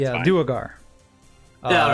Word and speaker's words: Duergar: They're Duragar. I'm sorry. That's what they're. That's how it's pronounced. Not the Draugr. Yeah, a No, Draugr it's is something Duergar. very different, but it's Yeah, fine. Duergar.